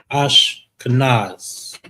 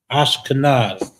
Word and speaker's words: Ashkenaz: Ash, ka, nas. Ash, kanaz. The and the sha is connected, making it one syllable. Ash, ka is standing alone. Ka, the na and the za is connected. Ashkenaz. Ashkenaz.